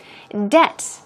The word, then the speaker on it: debt: Debt, as you see, that's D-E-T in the pronunciation. The B here is silent, so do not pronounce the B.